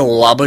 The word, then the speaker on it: ола: напълни устата много говориш да ола жилата да получа сексуално удоволетворение ударението в глагола е върху първата гласна олаби ли жилата тук